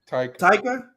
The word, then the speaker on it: Taika: Taiki? Is it? How do you pronounce his name? I don't want to say it wrong. The director. Taika.